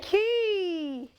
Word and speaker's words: quay: Arena Arena Never Say Never Say Quay you should say you should say key Never Say Never say